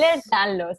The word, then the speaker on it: Ehlers-Danlos: a concienciar sobre este síndrome, que es ah, Ehlers-Danlos. Ehlers-Danlos, vale, ahí Sí.